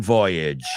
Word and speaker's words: voyage: There were many maiden women on the ship's maiden voyage. Yes. Y vamos a pronunciar voyage.